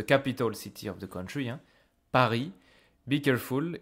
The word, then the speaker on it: Paris: city of the country Pari be careful in French you don't pronounce the S you don't hear this s it's not Paris this is Pari then